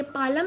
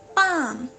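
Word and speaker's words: palm: पाम, ये पालम नहीं है या पाल्म नहीं है, इट्स पाम। यहाँ पे एल साइलेंट है तो हम इसको पाम पढ़ेंगे। पाम मीन्स हथेली।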